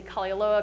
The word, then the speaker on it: Kalaeloa: just two different names i usually say kali loa because i'm so proud that i learned how to pronounce it but if you go to kali aloa the fuel pumps actually